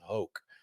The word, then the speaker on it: Hoch: The ancient and honorable Varden Trophy is in danger of becoming a joke, Thomas Boswell wrote in Golf Magazine, and that rhymes with Hoch.